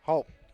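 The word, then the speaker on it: Haupt: Diego number 39 Zak halt h au PT is the way it's pronounced pelled he's gonna be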